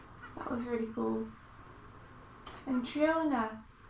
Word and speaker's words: Triona: I think her name is just Trina. Oh really? I always thought it was Triona. So yeah, that's how it's spelled. But yeah, I think she like corrected someone during the panel, like friendly. Like, my name's Trina.